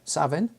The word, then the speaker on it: Samhain: So the first of the images of my eightfold wheel of the year starts with Savin, as it's pronounced in Scots, generally more known as Samhain.